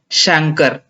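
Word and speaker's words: chancre: Primary stage, तो primary stage में क्या होता है, this stage classically present with a single, ये थोड़ा इसका प्रोनाउंस सुन लीजिएगा, शंकर, ठीक है, शंकर इसे बोलते हैं।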